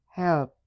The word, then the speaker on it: helped: Phonetically we have the base verb which is help and then we have the column that it falls under is t. So we have helped helped.